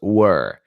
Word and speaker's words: were: How to pronounce were. It's the same sound as in the word bird.